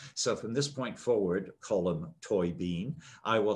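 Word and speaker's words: Colm Tóibín: this right today so from this point forward column toy bean i will say your name right and read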